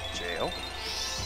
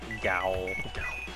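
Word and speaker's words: gaol: Jail? Yes. Gowl. It's jail. It just looks different.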